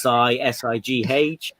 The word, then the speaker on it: Si: It's pronounced Sigh.